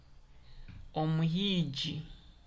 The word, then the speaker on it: Omuhiji: And I want you to hear how I pronounce this word Omuhiji. You notice I am using it as G.